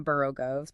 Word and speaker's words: borogoves: the first O in borogoves. People say it like the O in worry. Instead of borrow. Exactly, like the O in borrow.